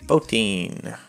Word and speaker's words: Botine: Well, we finally charted Botine. Rhymes with protein.